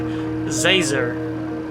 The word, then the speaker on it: Zazer: It's Professor Zazer, like laser with a Z.